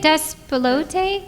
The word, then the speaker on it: Despelote: How do you say it? Despelote? Yeah. Okay. Despelote.